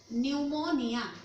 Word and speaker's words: pneumonia: Today the next topic is your pneumonia. Pneumonia, as I have told you, in biology the word start from P, pronounced as ni, so it's called pneumonia.